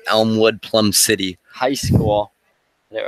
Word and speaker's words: Elmwood/Plum City: It's pronounced Elmwood, Plum City.